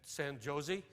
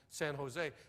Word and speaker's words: San Jose: El Cajon and and San Josie she said out here we pronounced that J like an H it's El Cajon in San Jose how long are you